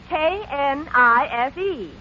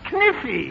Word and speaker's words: knife: K-N-I-F-E. K-N-I-F-E. That's Kniffy. No, the word is knife. K is the silent letter. K is always silent in front of N.